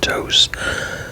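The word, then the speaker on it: Tous: It's a Spanish company, so it's pronounced Dose.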